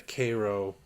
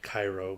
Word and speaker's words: Cairo: For those of you that don't know, the Cairo, it's spelled Cairo, but they say Cairo.